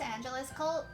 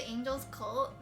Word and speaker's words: Angelus Cult: Wait, how do you pronounce Angelus Cult? The way that I said it just now. Like Los Angeles and then Cult.